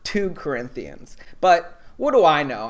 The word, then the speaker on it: 2 Corinthians: to church would know it's pronounced 2 Corinthians, not 2 Corinthians.